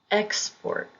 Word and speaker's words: export: Export, export. If the word is being used as a verb, the emphasis will be on the second syllable.